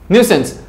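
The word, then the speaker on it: nuisance: Next word, next sentence is न्यूसेंस। इसको nonsense भी बोलते हैं, नॉनसेंस भी बोलते हैं इसको कई बार, बट the thing is nonsense नहीं बोलेंगे, इसको न्यूसेंस बोलते हैं। राइट, वो गलत प्रोनाउंसिएशन है।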